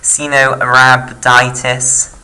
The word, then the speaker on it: Caenorhabditis: You can also do it on Caenorhabditis, and I've learned how to say this, Caenorhabditis elegans, which is often just abbreviated to C.